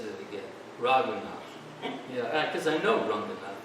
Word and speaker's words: Raghunath: Well, there's a difference between Ranganath and Raghunath.